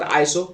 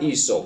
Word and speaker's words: ESO: ESO Group, not ISO, No, ESO, ESO. but it's spelled the same.